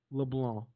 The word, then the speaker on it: LeBlanc: So for everybody out there that's wondering, to pronounce my last name, it's not LeBlanc, it's not LeBlanc, it's not LeBlanc, it's just LeBlanc.